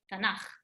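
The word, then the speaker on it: תנך: So Tanakh is the abbreviation of Torah, Nevi'im, Ktuvim, but we never say the three of them. We just say Tanakh.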